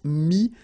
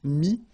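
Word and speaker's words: mis: Mi, same advice here, don't pronounce the final S like we had here. T is not pronounced, S is not pronounced. Mi, mettre, to put.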